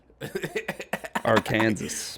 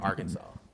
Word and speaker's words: Arkansas: AR our Kansas. Our Kansas it's our Kansas. It's Kansas, but it's it's pronounced Arkansas.